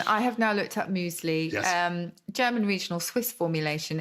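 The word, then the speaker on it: Müsli: Muesli, because the umlaut, the UMLAUT, are the two little lines that go above certain vowels in German, and they change the pronunciation. They do. Muesli, but we don't tend to keep them in. Muesli is how it would be, as opposed to muesli. Muesli is with the umlaut. Muesli is without.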